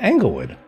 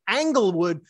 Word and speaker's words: Englewood: to school there yeah englewood englewood yeah it starts with an e you keep saying angle wood like it it's a